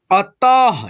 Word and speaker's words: अतः: चूहा तैरना नहीं जानता था, अतः, ठीक है, इस त पे लगा है विसर्ग, तो हम लोग इस विसर्ग को ह के रूप में उच्चारण करते हैं, अतः।